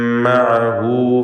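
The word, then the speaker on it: معه: വമൻ മഅഹു ഫിൽ ഫുൽക്, മഅഹു എന്നതിൽ ഹ ദമീറിന് ദീർഘമുണ്ട്, മുമ്പിലും ശേഷവും ഹറക്കത്തുള്ളത് കൊണ്ടാണ് അപ്രകാരം ദീർഘിപ്പിക്കുന്നത്. വമൻ മഅഹു ഫിൽ ഫുൽകിൽ മശ്ഹൂൻ, അക്ഷരങ്ങൾ വ്യക്തമായി മഖ്റജിൽ നിന്ന് ഉച്ചരിക്കേണ്ടതാണ്.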